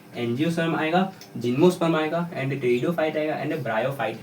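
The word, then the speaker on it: Pteridophyta: आर आई डी ओ टेरिडोफाइटा पी एच वाई टी ए इसमें जो है टेरिडोफाइटा नाम ऐसा है लेकिन पी जो है साइलेंट रहता है ये जैसे कि इंग्लिश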